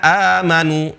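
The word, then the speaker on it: آمنوا: Contohnya amanu ya ayyuhalladzina amanu. Sebenarnya ya, ya ayyuhalladzina amanu, amanu seharusnya. Cuma hamzah ketemu hamzah, maka hamzah kedua berubah menjadi mad.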